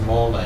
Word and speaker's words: mole: Okay, so mole, the sound looks like it should be mole, but it's pronounced mole because it's a Mexican word.